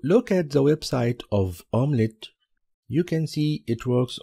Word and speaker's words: UMLet: tool called omelet uml it's pronounced as omelet I pick this tool